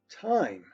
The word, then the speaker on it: time: name other words like time time we have that silent bossy e that makes the i say its name so look